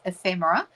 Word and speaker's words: ephemera: I have to say, when I first saw the word, I wasn't sure how it should be pronounced, but it's ephemera and basically means bits of this and that.